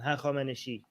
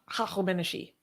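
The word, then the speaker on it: هخامنشی: Hachameneshi. Hachameneshi.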